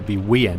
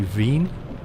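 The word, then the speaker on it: Wien: but it's you know if you spell that phonetically be ween or you know ween or Wen but it's actually V that's how they say it's a native tongue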